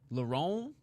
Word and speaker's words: Lauren: I've been calling him Lauren Murphy for ages. Didn't know I was saying it wrong. Lauron, did you see the clip of that guy on drugs at the sphere?